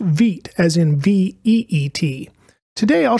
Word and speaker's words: Vite: It looks like you would pronounce the word Vite, but it is pronounced Veet as in V-E-E-T.